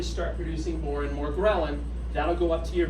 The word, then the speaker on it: ghrelin: It makes another one which is interesting called ghrelin. I'll write it up here. Sounds like gremlin.